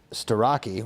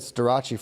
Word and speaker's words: Starachi: Everyone tried to gaslight us that it was Starocki. We said Starachi forever.